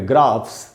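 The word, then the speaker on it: graphs: उसमें एस लगा है, ऐसे वर्ड है जो पीएच से खत्म हो रहा है, उसमें एस लगाया तो वहाँ पर भी एस का साउंड स होगा। जैसे ग्राफ, कोई भी जो ग्राफ बनाते हैं हम, उसमें एस लगा तो इसको पढ़ेंगे ग्राफ्स।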